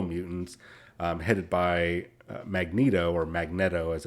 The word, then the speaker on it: Magneto: Brotherhood of evil mutants headed by Magneto or Magneto as it's supposedly that's how you actually pronounce it or the Freedom Force slash Brotherhood